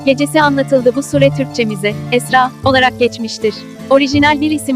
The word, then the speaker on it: Esra: bir nokta var Evet Araplar bu isimi İsra olarak yazıyor fakat Esra olarak telaffuz ediliyor yazıldığından farklı okunan bir